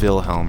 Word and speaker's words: Wilhelm: this one up here wilhelm's cellar it is wilhelm right you pronounce the w like a v wilhelm wilhelm what now